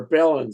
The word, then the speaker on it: Balin: Balin's the older scholar within this old group. Um Balin, sorry. It's got to got to rhyme rhyme with Thorin.